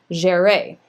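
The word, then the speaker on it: Jeré: And I know enough from my high school French that an accent on the E is going to change the pronunciation of that. And so they, according to first dibs, it's Curtis Jere.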